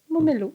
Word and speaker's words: Momelo: Comment on prononce ton nom? Comme ça. Momelo? Momelo.